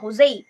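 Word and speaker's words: José: এখানে দেখো JOSE এর উচ্চারণটা কিন্তু হচ্ছে হোজেই। যেহেতু ওয়ার্ডটা পর্তুগিজ অরিজিন ক্যারি করছে, তাই এখানে উচ্চারণটা আমরা করব হোজেই। কোথাও কোথাও হয়তো জোস বা জো রয়েছে, কিন্তু এর অ্যাকচুয়াল প্রনাউন্সিয়েশন হচ্ছে হোজেই।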